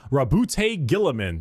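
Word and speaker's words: Roboute Guilliman: Primarch, Rabute Gilliman. That's how it's said.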